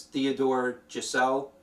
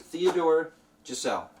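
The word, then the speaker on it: Theodor Geisel: seuss here but uh his real name is theodore giselle um i believe that's how you pronounce it theodore giselle or theodore geisel dr seuss okay so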